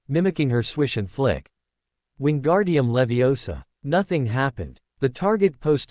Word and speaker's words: Wingardium Leviosa: The incantation is wingardium leviosa. The movement is a swish and flick. She demonstrated her wrist moving with precise grace. The emphasis is on the gar syllable.